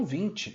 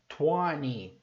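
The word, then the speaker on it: twenty: O 20, no inglês americano, o T não é pronunciado. Eles falam 20.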